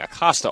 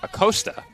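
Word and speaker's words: Acosta: season this year that we were mispronouncing Ana and Alyssa's last name. We were saying Acasta all year. It is correctly pronounced A. Costa.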